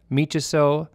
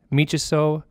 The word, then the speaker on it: miciso: And in Cree, that phrase is pronounced Napinesis, Michiso, Temesikitian, Temeskaisian. Once more, it's Napinesis, Michiso, Temesikitian, Temeskaisian.